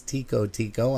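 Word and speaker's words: Tico-Tico: be m huh huh i believe the correct pronunciation of that song is tico tico i'm hoping anyhow it's t-i-c-o-t-i-c-o that is off of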